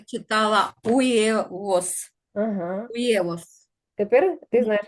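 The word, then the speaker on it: huevos: потом ще яйцо яйцевово перша літера не читається друга - це у третя - це е не єє тому коли швидко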